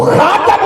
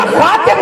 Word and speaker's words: خاتم: آخر میں آنے والا۔ تو خاتم النبیین یا خاتم النبیین دونوں تلفظ کے ساتھ اگر اس کو